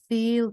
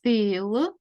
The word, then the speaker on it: feel: яке ми вивчимо I feel Dent Daddy погано Ми знаємо у слові Feel ми бачимо We і це читається одним звуком і а Feel the Я почуваюсь